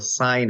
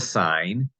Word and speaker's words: sine: button looks like sin please do not call it the cenovax the sine of x you call it the sin of X you are sinning you're breaking the rules in mathematics and you're not pronouncing things correctly so please call it the sign we have the cosine